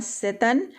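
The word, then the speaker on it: Tsetan: तो यहाँ देखिए वर्ड है यहाँ सेतन, और यहाँ पर टी साइलेंट है, जस्ट लाइक सुनामी में जैसे साइलेंट होता था।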